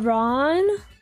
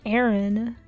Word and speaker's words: Aran: calling it Aaron since it was released uh Ron that just doesn't even make sense that sounds so wrong Aaron more like a wrong right because it's Aaron also it's Ryan that's how you pronounce the